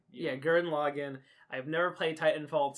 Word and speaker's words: Gurren Lagann: How do you pronounce it? It's Gurren Lagann. Yeah, Gurren Lagann.